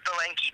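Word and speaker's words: Bilenki: pronounce your last name my last name is pronounced Bank b i l e n k i a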